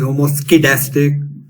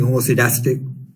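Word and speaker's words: homoscedastic: s k I'm pronouncing homocytastic you know it depends on whether you are from UK or for the U.S where do those people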